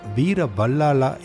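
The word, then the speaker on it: Veera Ballala: The letter Ba will pronounce as Va in Tamil. That's why he was called as Veerabalala in Tamil Nadu.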